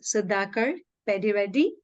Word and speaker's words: Sudhakar Peddireddy: His name is Sudhakar Peddireddy. Did I pronounce it right, Master?